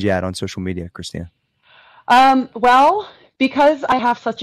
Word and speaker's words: Christina: at the Christina Kim, THE Christina with a CH and an A at the end. Cause my name's not Christine. Go with that third. Just clear that up. Just need that third syllable. I was called Christine so much in school by all my teachers. And I'm like, Christine has the same number of letters. You're just being too lazy to not say the third syllable.